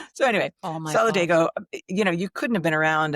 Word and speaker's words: Solidago: us, please, very respectfully, could we stop saying Solidago and say the way it's supposed to be pronounced, which is Solidago.